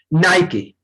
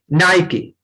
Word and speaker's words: Nike: Pronunciation of this, as money Singh said that, नाइकी. नाइकी. Okay, नाइकी इज the real pronunciation.